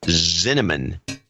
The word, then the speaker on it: Zinneman: And last but not least, Jeffrey Zinneman, rhymes with cinnamon, in South Euclid, Ohio.